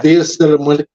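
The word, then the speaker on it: Día de los Muertos: Dias de los Muertos. Dias, Dias de los Muertos. There you Yeah. go. Something like that. So yeah, that's kind of You gotta roll your R's, Steven.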